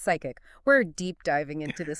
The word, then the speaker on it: PSCIC: PSCIC, Okay. pronounced psychic.